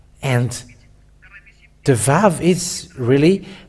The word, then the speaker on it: vav: the Aramean word that the letter Vav, it is pronounced V. And it is clear with that the Holy Scriptures say that Aramean has pronounced the word Vav, V-A-V, and it doesn't change to U.